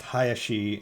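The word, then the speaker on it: 林: It's pronounced Hayashi and it's used in names a lot.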